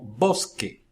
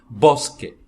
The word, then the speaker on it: bosque: é diferente, ou seja, se nos casos como bosque, vê que nós juntamos os lábios na hora de pronunciar bosque. Também quando pronunciamos bolar, estamos nos dois casos iniciando a pronúncia, então aí é um som oclusivo, que se chama em espanhol, quando juntamos os lábios, bosque, bolar.